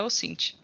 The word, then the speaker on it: OSINT: Cada uma pessoa pronuncia de um jeito, mas é OSINT.